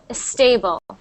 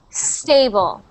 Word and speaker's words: stable: me please he so when you were reading sometimes you make a little sound before the S it sounds like a stable a stable you want to start just with the S like this stable stable stable stable